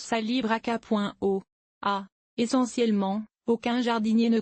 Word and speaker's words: calibrachoa: populaires aussi rapidement que le kalibraaka calibraakoa on prononce salalibreaka.o a essentiellement aucun jardinier ne connaissait le genre